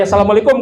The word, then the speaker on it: assalamualaikum: Kumnya ada madnya enggak? Enggak. Enggak ada. Tapi kalau dibaca asalamualaikum kan kurang melas ya. Nah. Ini bacanya berarti enggak benar. Jadi kalau baca benar, asalamualaikum warahmatullahi wabarakatuh. Nah, jadi kum itu tidak ada madnya. Yang dibaca panjang dibaca panjang. Yang pendek dibaca pendek.